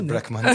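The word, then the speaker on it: BLCK MNTN: On va écouter Black Mountain dans l'album je sais pas comment le prononcer BLC K MNTN. C'est Black Mountain aussi.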